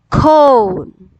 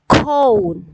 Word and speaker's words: cone: ends with e so the sound of o is long you say o we have to read cone cone it's a con con con no it's cone okay if here is